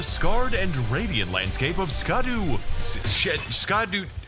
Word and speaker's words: Scadu: and radiant landscape of scadu SC it's pronounced Shadow alus a beautiful domain